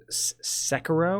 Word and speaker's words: Sekiro: It's not a Dark Souls game, but it's from the same studio, Sekiro or Sekiro. Yeah. There's a way to pronounce Sekiro?